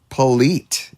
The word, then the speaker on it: Politi: Terry Jones Rogers, younger than yesterday, along with Scott Nienhaus, Michael Curtis, and is it Tim Politi? Polite. E is silent.